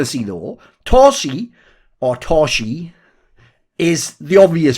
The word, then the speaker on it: Torzsi: far as I know like Zs is actually a letter just been written romanized obviously in hung and they say it's supposed to be pronounced like the letter s in the word pleasure so since it's pleasure I'm saying TSI cuz I assume that must be similar enough to how it is anyway this guy like